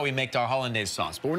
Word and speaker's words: Hollandaise: Sauce Hollandaise.